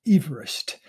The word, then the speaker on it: Everest: Mount Everest, and which, by the way, is pronounced Everest.